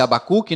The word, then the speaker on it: Habacuque: entendendo o livro agora o nome habacuque significa pronuncia-se habacuque né o nome do autor